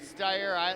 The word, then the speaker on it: Steyer: Okay, they pronounce it Steyer. It looks like Sear.